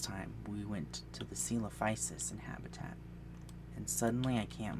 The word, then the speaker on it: Psittacosaurus: It's got a P in front of it. It should be coming up on the screen now. So I like to say Psittacosaurus, but people say Psittacosaurus or Psittacosaurus or something because it